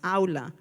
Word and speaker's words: Aula: And for the Spanish speakers, it's pronounced Aula 365.